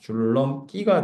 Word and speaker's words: 줄넘기: 근데 기가 아니라 끼 발음이 된단 말이야. 그쵸? 이렇게 됩니다. 줄넘 끼가 돼요.